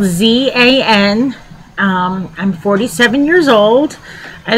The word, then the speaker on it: Zan: That's spelled Z-A-N.